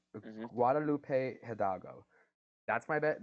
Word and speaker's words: Guadalupe Hidalgo: not yeah don't speak any Spanish it's called Guadalupe Hidalgo that's my bet Guadalupe hudago you said it right yes oh I feel